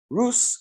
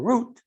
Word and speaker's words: Ruth: Ruth, Rus or Root, is spelled Resh, Vav, Taf.